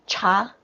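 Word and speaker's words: 茶: new cha cha yes tea is cha it's like the indian chai chai i thought something about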